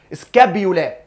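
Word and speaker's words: scapula: الاسكابيولا اللي هي عضمه لوح الكتف اسمها ايه انطق معايا كده سكابولا وعضمه الكلاك التركوه يبقى انت عندك سكابولا عضمه لوح الكتف وعندك كلافيكل التركوه الاتنين دول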